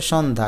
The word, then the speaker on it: সন্ধ্যা: উচ্চারণ হবে না যেমন সন্ধ্যা এখানে জ ফলা থাকলেও আকারের কিন্তু প্রাধান্য তাই এটা উচ্চারণ হবে সন্ধ্যা স থাকলে স ধা